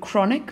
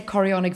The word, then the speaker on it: chorionic: are called chonic villy be careful here you don't use the word chronic villy um I think in some textbooks that it is spelled incorrectly but also just chonic sounds like a funny word so we have to say chonic villy and it's the same